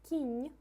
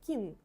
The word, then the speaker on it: кінь: So the word кінь, horse, we pronounce н on the end, and that's how м'який знак affects on the consonants. Without soft sign, it sounds like kin. We don't have this word at all, that's not correct pronunciation.